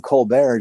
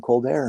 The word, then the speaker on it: Colbert: I think it's hilarious that Stephen Colbert became Stephen Colbert just because people started calling him that from his TV show, not knowing the correct pronunciation, and he kept it. And so now he's Stephen Colbert instead of Stephen Colbert.